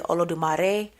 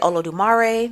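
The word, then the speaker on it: Olodumare: orisha I will mention depending on the person where they come from who they with what they practice the pronunciations of the name will vary like for example I think in Santia they may say oolare just because you know Spanish I say olo dumare because you know country so it depends on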